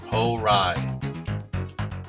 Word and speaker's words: Hourai: Hourai is pronounced a bit like Hourai.